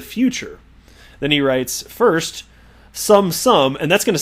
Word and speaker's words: XUMM: their Sum app, XUMM, and it's pronounced sum, because they want to